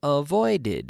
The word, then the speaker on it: avoided: I avoid yesterday I avoided here's the extra extra syllable I avoid with D so yesterday I avoided I avoided a problem